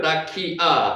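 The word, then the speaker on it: רקיע: 자, 라키아 짝대기에 있는 거는 아로 읽자고 그랬죠. 라키아 읽혀집니까? 이로 읽게요. 라키아.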